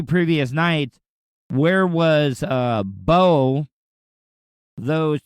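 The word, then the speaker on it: Beau: and your twin flame Bo, not B.O. like Bo Jackson, gotta sound like a complete fucking douchebag and spell it B-E-A-U.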